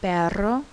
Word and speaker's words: perro: next we have ere ere is a rolling r sound it can be called a trilled r or a rolling r um you'll find it in words like perro this sound can me